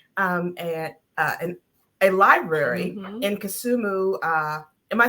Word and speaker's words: Kisumu: she has established um and a library in kusumu uh am I saying that right that is correct pronounce it like you're from there that's right